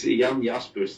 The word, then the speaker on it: Jan Jaspers: It's Jan Jaspers. That's how it's pronounced in my language.